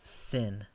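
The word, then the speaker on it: שׂין: This is a sin, pronounced like the English S.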